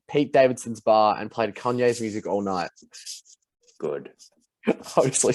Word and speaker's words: Kanye: do you say it not kon is it kanye what that's right it's a kanye kanye man it's kanye